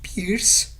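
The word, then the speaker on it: PRRS: reproductivo de los cerdos lo pronunciamos kirsch porque estas son las siglas en inglés que quiere decir por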